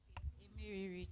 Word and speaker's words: Emeriri: The name is Emeriri, so it's R-I-R-I. Emeriri, thank you.